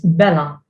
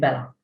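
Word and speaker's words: bela': It has no particular pronunciation, that there is an ein in this form.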